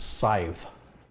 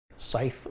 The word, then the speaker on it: Scythe: It's pronounced Scythe. Scythe? Is that right? Scythe like wife.